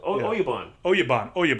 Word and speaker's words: oyabun: How do they pronounce it? Abuya? Abuya? Yeah. That's right. Oyabun. Because remember, that's what Dolph Lundgren tells Brandon to get out of him. I want to know his Oyabun.